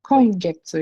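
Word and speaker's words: 今月: You also use getsu instead of gatsu. So this one you have to be careful. You use getsu ほい。 instead of gatsu. So kongetsu.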